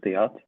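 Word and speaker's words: Theate: Is that how you say his name? Please help me. Yeah, we pronounce like Arthur Theat, Okay, Arthur but Tiate.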